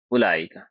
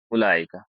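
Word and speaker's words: أولئك: আর জামার জন্য, জামা মুজাক্কার বাঈদের জন্য যে শব্দটি ব্যবহার করা হয় সেটা হচ্ছে উলাইকা। উলাইকা, এটা ওয়াওটা লিখা হয় কিন্তু এটা উচ্চারণ করা হয় ডাইরেক্ট উলাইকা ব্যবহার করা হয়।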